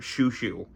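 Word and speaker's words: Xiu Xiu: I love uh if you ever want to hear really interesting interpretations of the soundtrack of Twin Peaks, listen to Shushu. Xiuxiou is how you spell it. Shushu does the music of Twin Peaks.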